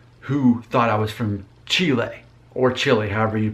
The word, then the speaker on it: Chile: right, Uruguay, Argentina, and Chile, which in America we pronounce as Chile.